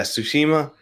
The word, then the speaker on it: Tsushima: I bought Ghost of I can never pronounce it. Tsushima? What is it? Yeah, Tsushima.